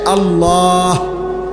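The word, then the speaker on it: الله: শেষে আল্লাহ, শেষে একটা গোল হা আছে, ছোট হা।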